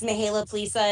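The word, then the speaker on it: Mihaela Plesa: pronunciation? Yes, you did very well. Thank you. Good morning, everybody. My name is Mihaela Plisa, and I proudly serve as the vice chair of the House Democratic Caucus.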